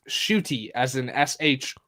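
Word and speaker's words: Ncuti: how it's spelled NC u t but it's pronounced shoy as an sh o o t y well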